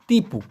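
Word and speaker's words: tipu: যেহেতু টিকে মালয়েশিয়ানরা ট এর মত উচ্চারণ করে না। ওরা করে ত এর মত। এইজন্য টিপুর উচ্চারণ হবে তিপু।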